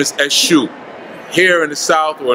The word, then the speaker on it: Eshu: You might have even known him as Jesus, because his name is spelled E-S-U, Eshu.